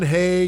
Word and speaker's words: Haigh: How do you pronounce it? Haigh.